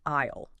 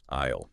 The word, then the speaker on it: aisle: In English, specifically for planes and also trains and churches, we call it the aisle. Aisle. Yes. It is spelled A-I-S-L-V, but the S is silent.